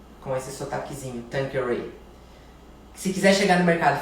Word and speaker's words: Tanqueray: Se quiser falar Tanqueray, Tanqueray, do jeito que quiser falar, o importante é a pessoa entender que é isso que você quer, não é mesmo? Mas na pronúncia em inglês. Eu sei que tem uma professora de inglês aí me assistindo, e se eu falar errado agora ela vai puxar a minha orelha, mas é Tanqueray, com esse sotaquezinho, Tanqueray.